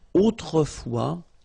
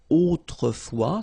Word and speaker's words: autrefois: And then we get this autrefois, so it could be translated like in olden days or in olden times, okay? Autrefois, so A-U, autrefois, final S not pronounced, okay?